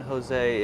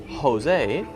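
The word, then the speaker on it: José: J is pronounced editor the J is pronounced as ha in Spanish so ha ha ha said the same but written differently so if you see San Jose well you know if it's Jose then it's pronounced with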